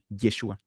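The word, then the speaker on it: ישועה: Antiguo Testamento, van a encontrar precisamente que la pronunciación de salvación, como vemos aquí, es Yeshua.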